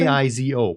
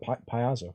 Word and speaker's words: Paizo: P-A-I-Z-O. Paizo. I That don't- seems pretty clear. I mean, sure. I always call it Piazzo for some reason. You throw another syllable in there that doesn't belong.